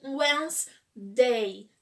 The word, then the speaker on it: Wednesday: é o em gostei e por favor fale when's dei não falem esse de que são dele para falar pronúncia tá e não falem também o enzinho